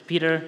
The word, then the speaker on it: Petr: to pronounce my name if you speak English it's Peter you don't have to conjugate that it's it's better that way on the internet you